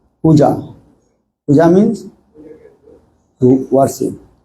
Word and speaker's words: puja: We discussed what do you mean called puja. Puja means to worship. And the two syllables is there, not the pu or ja. Puja.